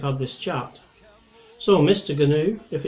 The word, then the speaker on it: gnu: nat how i mvu for pronouncing the g in gnu replied the gnu if only you canoe for mine is a silent g too well said than